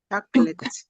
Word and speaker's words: chocolate: You're still saying shh. Chocolate. No, it's not shh. It's ch. Chocolate.